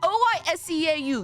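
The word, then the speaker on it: oiseaux: You guys want to know how to say birds plural? You add an X at the end of that word. Do you want to know how it's pronounced? Oiseau. Same fucking pronunciation.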